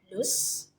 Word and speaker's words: loose: the z sound whereas the s in loose just makes the s sound those are the two